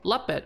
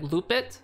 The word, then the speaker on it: Luppet: have heard of the application called lupite or some people pronounce it like loop it but it's lupit and the other free